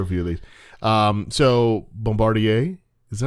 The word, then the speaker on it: Bombardier: So Bombardier, is that how you say it?